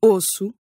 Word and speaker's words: osso: Or whenever you see two S's in a row. Like in osso.